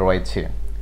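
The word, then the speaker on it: wrong: হ্যাঁ, দ্বিতীয় নাম্বার যে ওয়ার্ডটি সেটি হলো ডাব্লিউ আর ও এন জি, রং। রং তো ভুল, রং রং রং রং তো ভুল। হ্যাঁ, তাহলে এখানেও ডাব্লিউটি, ডাব্লিউ লেটারটি সাইলেন্ট রয়েছে।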